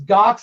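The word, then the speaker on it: Ghox: okay i like the challenge um what else gox i've been playing the you know jar that's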